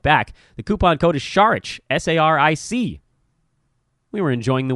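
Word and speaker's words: Saric: not 100% certain, that, that's right, it was Sharich. Almost forgot. Seth and I had a coupon code out from our last show a month back. The coupon code is Sharich, S-A-R-I-C.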